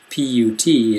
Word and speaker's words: put: mut nut and then there's a funny pronunciation it's not really a normal short u p u t is pronounced put p